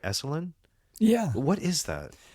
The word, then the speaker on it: Esalen: Can you tell me about am I pronouncing right, Esalen? Yeah. What is that? Esalen, it's an institute, and it's a beautiful piece of property in the Big Sur on Highway 1.